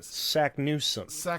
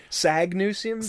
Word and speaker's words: Saknussemm: Like, she says her own name wrong. She does. Sagnussemm, doesn't she say?